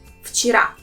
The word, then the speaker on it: вчера: There are 2 syllables in this word, and the last one has stress. Вчера. And here in this word, the sound V will pronounce as its voiceless counterpart sound F. So it becomes вчера.